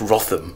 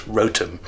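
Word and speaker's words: Wrotham: north is a Rotom we thought it was pronounced rotham or rotham please rotem because everyone loved to correct you on your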